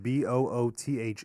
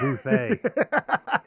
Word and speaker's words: Boothe: It's spelled Boothe, though, so it's French Right. because it's got an E at the end. Right. Booth. It's Booth, you ignorant American fucks.